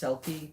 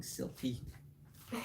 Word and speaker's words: Selkie: I know it's pronounced Selkie, but for some weird reason my brain keeps on thinking Silky.